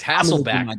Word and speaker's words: Hasselbeck: matt hasselbeck who has one of the weirdest names to pronounce because i don't know if it's hassleback or hasselbeck it's hassleback baby matt hasselback baby just say it be